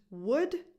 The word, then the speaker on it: would: the way all these these modal verbs have a silent l so they're pronounced would just like the word